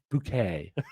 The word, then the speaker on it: Bucket: It's bouquet. It's Mrs. Bouquet. Good morning, Mrs. Bucket. It's bouquet.